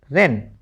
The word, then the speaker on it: wren: WREN क्या बना रैन। WRY राई, WR में W साइलेंट।